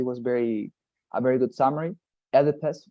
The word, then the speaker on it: Oedipus: Oedipus, right, the pronunciation of this hero, Oedipus, but apart from that, you know, you said, right, you didn't understand your letters.